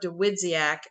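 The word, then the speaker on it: Dawidziak: And then December, we have not chosen what we're reading yet, but Mark DeWidziak, Jeff, am I pronouncing that correctly?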